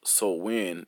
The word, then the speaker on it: Samhain: in modern times Samhain a Gaelic word pronounced so when is usually celebrated from